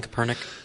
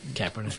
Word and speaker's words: Kaepernick: Colin Kaepernick. Thank you. Kaepernick.